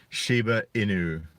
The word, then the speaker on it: Shiba Inu: dog breed there i and i think i'm pronouncing this correctly shiba inu it's a japanese and for those of you